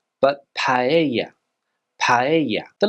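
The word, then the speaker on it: paella: Thora not Zamora Thora words with a double l in them here in Spain are normally pronounced as a y sound for example this word here is not Pella but paa paa the letter c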